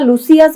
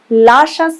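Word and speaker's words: luscious: আমি কিন্তু উচ্চারণটা লুসিয়াস বলিনি, কিন্তু লাশাস। লাশাস মানে স্বাদ গন্ধযুক্ত, তৃপ্তিকর।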